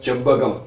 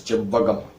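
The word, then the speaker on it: செவ்வகம்: This is called rectangle, which we call in Tamil as chebbagam. Written in English CHEVVAGAM. It is pronounced like this, chebbagam. In Tamil, it is written Che-Iv-Va-Ga-Im chebbagam.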